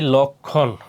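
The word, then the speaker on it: লক্ষ্মণ: সবগুলার কি উচ্চারণ হবে এরপর যুক্ত ব্যঞ্জনের সাথে সংযুক্ত মফলার উচ্চারণ হয় না যেমন কি লক্ষণ দেখো এই খর সাথে কি আছে এইযে ম সেজন্য কি মর উচ্চারণ হয় না আর লক্ষণ উচ্চারণ করতে গেলে এখানে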